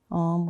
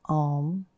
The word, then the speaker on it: Om: Om was traditionally spelled or pronounced A-U-M.